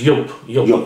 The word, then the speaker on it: Joop!: be pronounced yeah yeah and so it's not juice yeah it's jop yeah yeah it's spelled Jupiter it's yup y-o-p-e um again with this with this version